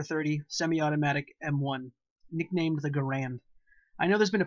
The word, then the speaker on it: Garand: pronounce it Garand, or however the inventor's name was pronounced. The man may have been Garand, but the weapon was a Garand. I have never heard a veteran from World War II or Korea pronounce it any differently. You can call it what you want, but I'm sticking with Garand because that's what GIs said when they weren't just calling it an M1.